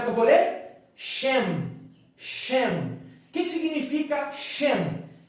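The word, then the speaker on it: שם: para mim como é que eu vou ler shem shem que que significa shem shem significa nome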